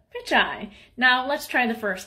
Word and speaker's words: Pichai: You know how to say pitch, and you know how to say I. Put it together. Pichai.